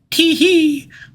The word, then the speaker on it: Tyche: It's supposed to be something like tee-hee, but that sounds like how a little girl might sneeze, so I'm sticking to Taiki.